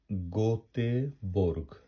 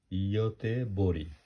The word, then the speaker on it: Göteborg: গোতে বোর্গ, কিন্তু এটা আমরা সুইডিশে বলবো ইয়তে বরি। জি যদিও অনেক সময় এই ইংরেজিতে যেটা জি, এটা যদি শব্দের শেষে থাকে সেটার উচ্চারণ ই হয়।